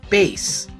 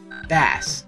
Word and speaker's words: Bass: Near the end of the intro stage, we meet a mysterious new character known as Bass, or Bass. Okay, the pronunciation of this character's name has been debated for a long time.